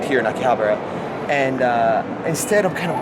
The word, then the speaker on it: Akihabara: I'm in Akihabara, or Akihabara, depending on how it's pronounced, in Tokyo.